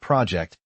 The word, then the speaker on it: project: The word project has stress on the first syllable.